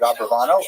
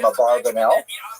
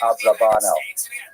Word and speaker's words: Abravanel: I should mention, by the way, many people pronounce the same Abarbanel, and that's because of the it's much easier, as Stephen says, it's much easier to rhyme the song to the name Abarbanel. You know what I'm talking about, right? With Schlock Rock version of Abarbanel. But it's most likely pronounced Abravanel or Abrabanel. So we'll stick with the scholarly norm, although you know who I am talking about.